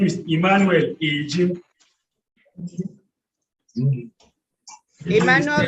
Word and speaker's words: Ejim: With utmost respect and humility to my noble Lord, my name is Emmanuel Ejim. Emmanuel Leche? Ejim is spelled E-J-I-N.